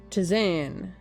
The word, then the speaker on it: tisane: Pronunciation. Tisane.